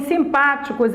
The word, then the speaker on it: simpáticos: as outras ó simpáticos em simpáticos é antepenúltima sílaba ela é uma proparoxítona época ante penúltima sílaba